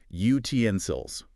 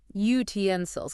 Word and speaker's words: utensils: Stress the middle bit. Utensils. Utensils.